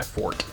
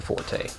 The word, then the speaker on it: forte: mischievous not mischievous Mischief is kind of my fort not Forte but disembodied voice is correct calling attention to someone's mispronunciations does make one look like a douchebag